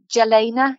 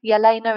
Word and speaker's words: Jelena: easy to get hold of but um either gelena yelaina it's pronounced but jelena j e l e n